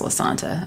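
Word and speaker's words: Lasanta: I do know it's pronounced La Santa.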